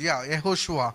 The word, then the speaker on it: Yehoshua: And in fact, మరి నిజానికి చూస్తే the proper pronunciation for the name Jesus is Joshua. మరి యేసు అని మనం పలుకుతాం కదా, ఆ యొక్క శబ్దము అది మూల భాషలో పిల్లరా యెహోషువ అని దానికి అర్థము. And in Telugu it is Yehoshua.